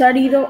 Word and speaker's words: árido: Mi nos pregunta, ¿es árido o aérido? Árido, acento en la A, árido. Una palabra esdrújula, árido.